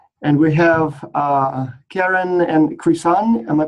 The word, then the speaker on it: Krisan: It actually is Krisan. Krisan. Close.